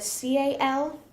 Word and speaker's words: CAL: and so it's a c a l or a k a l so it's pronounced Cal either way but one is a